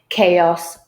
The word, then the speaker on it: chaos: Very often they could be pronounced as k, as is the case with all the 6 words in this handout. So we have mechanic, chaos, archive, hierarchy, echo, and stomachache.